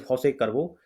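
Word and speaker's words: José Cuervo: about some famous tequila like this one is Jos carvo so the pronunciation is Jos carvo and we have the silver and gold varieties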